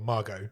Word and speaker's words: Margot: Or Margot, as it should be pronounced.